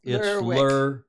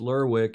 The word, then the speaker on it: Lerwick: Yeah, it's Lerwick. Lerwick. Okay, so the W is pronounced. It's Lerwick.